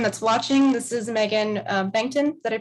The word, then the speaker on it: Bengtson: To everyone that's watching, this is Megan Bengtson. Did I pronounce that correctly? Yep, Megan Bengtson.